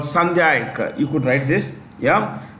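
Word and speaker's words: Sandhayak: Comm this um class of ships is called sandak you could write this yeah Sak Sak class s a n d h a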